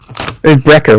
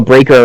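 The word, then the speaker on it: Brayker: So we're introduced right away to Brecker, right? Yeah. Breaker, yeah. Yeah, Breaker. I knew I was going to mispronounce it slightly.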